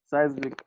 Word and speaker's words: seismic: physicists predicted seismic activity seismic activity all right look at that word no size make activity yes the pronunciation is